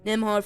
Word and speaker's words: Nembhard: Nembhard, 14 points.